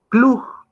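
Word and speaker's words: Klug: a remitirnos a lo que estableció el autor clug si gustan les voy a deletrear cómo es que se escribe el nombre del autor para que ustedes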